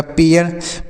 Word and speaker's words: pair: PAIR तो पी से हो गया प, AI एक साथ है तो इसका उच्चारण ए के रूप में। उसके बाद र हो गया तो यह हो गया पेयर।